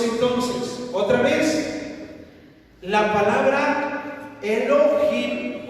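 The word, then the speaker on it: אלוהים: Hasta ahí vamos bien, pero en el original hebreo, en Génesis 1:1, la pronunciación en el hebreo se pronuncia Elohim, así, Elohim.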